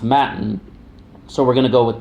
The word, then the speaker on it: Mattan: in a TTA and I always wanted to say Matan but when I was listening to some of the audio about this case it was always pronounced matin so we're gonna go